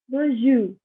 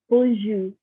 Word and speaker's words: bonjour: So we start with hi, which is bonjour. Again, hi is bonjour. And if you see here, I do not pronounce the R at the end.